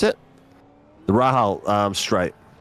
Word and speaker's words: Rahal: The Andredy hairpin and the the real how do you pronounce it? the Rahal um straight. Yeah, Rayal straight. Raal straight.